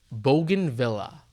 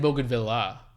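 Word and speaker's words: bougainvillea: If it's French, you can't pronounce it bogan. It's not bogan.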